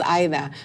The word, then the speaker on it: Aida: don't but it's not ADA and I for many years I grew up people calling me ADA because I didn't want to make people uncomfortable by correcting them and saying my name is Ida but then when my